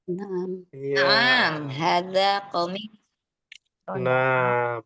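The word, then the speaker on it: نعم: Naam. Naam. Ya. Naam. Hadza qamis. Nah, perhatikan panjang pendeknya, jangan dibacanya na'am. Ya, Naam. hati-hati. Kalau Qamis.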